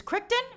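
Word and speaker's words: Keaton: like oh it's it's I always mispronounce Michael kryon so it's kton Michael kton all right thank you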